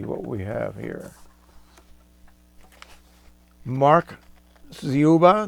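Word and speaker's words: Dziuba: Mark Zuba. D Z I U B A. I assume that the D is silent.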